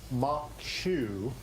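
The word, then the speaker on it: maque choux: Wednesday so we're making crawfish mock shoe moach over fetuccini this morning MCH Shu which is spelled mock chow is a uh uh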